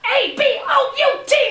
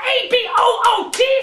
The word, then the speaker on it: about: It's about A-B-O-U-T, not A-B-O-O-T!